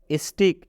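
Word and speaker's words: stick: स्टिक में भी आप देख सकते हैं दो कॉन्सोनेंट के बीच आई आया है। टी आपके लिए क्या है, कॉन्सोनेंट है, सी भी आपके लिए क्या है, कॉन्सोनेंट है। कॉन्सोनेंट के बीच आई आया है तो इस आई का उच्चारण ई की मात्रा से हुआ है, आप देख सकते हैं।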